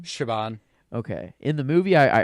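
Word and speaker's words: Siobhan: know um how do you how do you pronounce her name Shaban okay in the movie I I heard it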